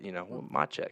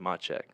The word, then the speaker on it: Matschek: Okay, yes, the last name is, we've been working on it, but Matschek, that's the correct way to pronounce it. That is. The T is silent. Yes. No, the T. T. The T is silent, Matschek.